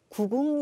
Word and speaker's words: 구궁: 기적과 같은 군 편 의 탑 법 인데요 구궁 이라고 발음하고 마찬가지로 한번에 힘을 주어서 2 소리를 만들어